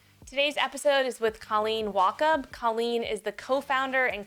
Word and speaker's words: Wachob: This is your host, and I am here with Colleen Wachob.